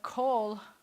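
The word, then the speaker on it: כל: But kol means all or every, so it rhymes with all.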